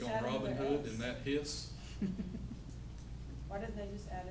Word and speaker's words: His: It's spelled H-I-S, like his, but if they said his, then of course somebody'd be mad and said, what about mine? It's a hers, right? So they pronounce it His, so they can't do